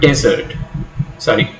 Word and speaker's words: desert: Likewise, in the word desert, the last syllable is stressed. Desert.